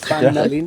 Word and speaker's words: Pan Nalin: Est-ce qu'on a bien prononcé votre nom ? Nalin. Pan Nalin.